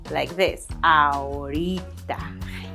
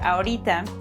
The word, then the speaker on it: ahorita: Did you notice my pronunciation there? When you say ahorita like that, that means that you don't feel like doing it.